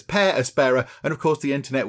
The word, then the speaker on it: Per Aspera: of the game because i would have said per aspera but no apparently i've looked on the internet and it says pear aspara and of course the